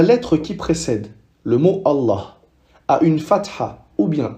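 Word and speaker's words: الله: Alors que si la lettre qui précède le mot Allah a une kasra, alors on va prononcer les et non pas la.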